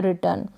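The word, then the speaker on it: written: फिर ये है रिटर्न, क्या है, रिटर्न। यहाँ पर ये जो W है साइलेंट है, जैसे कि राइट में लिखते हैं हम, वैसे ही रिटर्न यानी लिखा हुआ, राइट की ही है।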